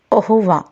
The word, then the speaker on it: au revoir: common way of saying goodbye in french is ahuva which means goodbye now let us see what